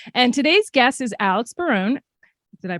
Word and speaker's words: Barone: daughter Faith yep and today's guest is Alex Barone did I pronounce that correctly okay good um actor producer